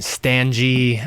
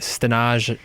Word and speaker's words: Stanaj: your name oh man I've gotten Stan gee I got stands just they forget the second a uh-huh I don't know I could keep going but Stannis ten points for saying it right de Nagy was my